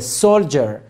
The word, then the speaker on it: soldier: He is a soldier D-I-E-R جر تلفظ میشه.